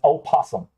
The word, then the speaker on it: opossum: An opossum, okay, I'm pronouncing it the way you're supposed to. Opossum. People in the South just call them possums.